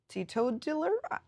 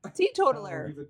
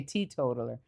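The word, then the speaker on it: teetotaler: But it looks like it's pronounced tto dealer. Tito dealer. But it's spelled T E T O T A. Tea totler. Tea totaller. Tea totler. Tea totler. Tea totaller.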